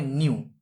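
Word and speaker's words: ν: ফ্রিকোয়েন্সিকে এই নিউ, এটাকে বলা হয় নিউ, এটার উচ্চারণটা ভি এর মতো কিন্তু ভি নয়, এটাকে বলা হয় নিউ।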